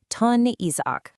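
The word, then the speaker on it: τὸν Ἰσαάκ: That's pronounced ton Isach.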